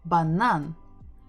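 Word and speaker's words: банан: with easy ones we're stressing the final syllable banan so let's figure out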